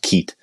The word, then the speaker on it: Keith: because of our accents we don't pronounce the h at the end it's just Keat so I was over